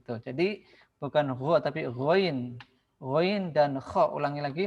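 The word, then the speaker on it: غين: ketika tidak berharakat maka ada beberapa huruf yang dibaca berbeda misalkan huruf ghoin ya Bukan dibaca huruf gho ketika tidak berharakat tapi dibaca ghoin Al gainu Kalau ditulis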